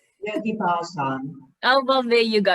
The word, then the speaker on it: Bhajan: It's taught by yoga, and you'll have to help me with the pronunciation here, is Bayan. Yogi Bhajan.